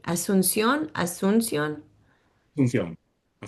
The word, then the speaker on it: Asunción: And say it, I feel like I'm not pronouncing it right. Asunción? Asunción? Asunción, Asun- Asunción, Okay, I got it.